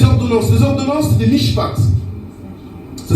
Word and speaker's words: mishpat: Les ordonnances, c'est des mishpat. Ça s'écrit M-I-S-H-P-A-T.